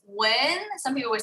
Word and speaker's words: Nguyen: So my last name in Vietnamese with the diacritics is Nguyen. And however, in English, the English language does not have diacritics. So the sounds that exist in Vietnamese just literally don't exist in English.